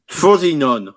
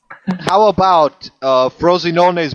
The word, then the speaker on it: Frosinone: He pronounced it like the Danone yogurt.